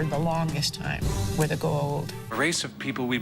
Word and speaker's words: Goa'uld: I was like, well, I called them the Gould, but they were like the Goa'uld.